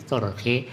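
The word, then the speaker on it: تُرْخِ: Jadi turki itu kan bisa ibaratnya tarkha dibaca bisa, cuma di dalam ada menjelaskan minal irkha, arkha yurkhi irkhaan, jadi berarti turkhi bacanya. Nah artinya ada pulang bahwa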